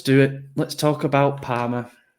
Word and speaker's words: Parma: Let's talk about Palmer. Rhymes with drama for a reason, I guess.